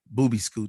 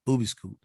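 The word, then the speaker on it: Boobeescoot: uh i'm on facebook booby scoot this was which is my little label uh b is it's spelled you know it sounds exactly the way it's spelled boo b scoot b-o-o-b-e-e-s-c-o-o-t boobie school that's my little label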